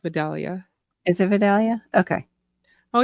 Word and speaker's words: Vidalia: I think it's pronounced Vidalia.